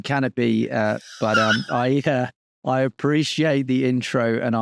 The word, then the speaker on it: Kanopi: It's a K and an I. So, the going joke is Kanopi is sometimes it gets pronounced Kanopi rather than Canopy.